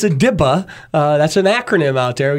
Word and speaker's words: DIPA: kind of messed it up okay it's a dipa that's an acronym out there you know how